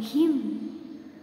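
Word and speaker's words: hymn: Next, H-I-M, him. Another one, H-Y-M, him. Same pronunciation but have different meanings.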